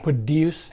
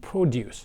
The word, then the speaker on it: produce: And notice that some words are pronounced differently based on the context, like produce and produce. Based on whether it's used as a verb or a noun, the same word can be pronounced differently.